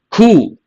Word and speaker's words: coup: Coup. The letter P is silent.